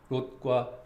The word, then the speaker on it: 롯: 롯과 룻입니다. 오와 우의 차이, 우리말 발음으로 하면은요, 오와 우의 차이입니다.